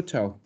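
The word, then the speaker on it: ciao: Es igual que nuestro chao. Chao. Ya, entonces, ahora vamos a ver rápidamente la fonética. El C y A no se pronuncia chia, se pronuncia cha. Desaparece la I.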